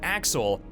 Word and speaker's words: AXL: Through the use of a promotional video, the name AXL, which is pronounced Axel, is initially presented to the audience.